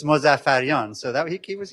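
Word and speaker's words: Mozaffarian: a big supporter and he he actually came pretty close to pronouncing my name in the original Persian which I was impressed with. So uh if you're curious it's Mosaf Fion so that he he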